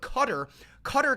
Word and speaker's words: Qatar: You've got to pronounce Qatar better. That's how they pronounce Qatar. That is literally how you pronounce Qatar.